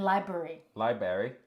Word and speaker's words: library: to count our chickpeases like when someone doesn't pronounce the first R in library library okay it's the